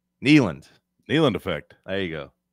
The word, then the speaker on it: Neyland: Knee. You got to emphasize the knee.